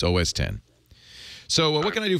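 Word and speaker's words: OS X: reader in the book keeps calling it OSX and it's driving me crazy it's os10 he gets almost everything else right but he mispronounces OS 10 I don't know why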